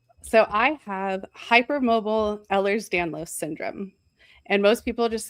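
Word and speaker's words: Ehlers-Danlos: How is it pronounced? So, I have hyper mobile Ellers's Danlos syndrome and most people just say hyper mobile EDS because that's a lot easier.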